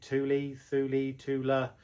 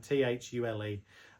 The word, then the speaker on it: Thule: So this model is, like I say, Halfords Advanced, but it's actually made by Thule, however you want to pronounce it. That Swedish brand, Thule.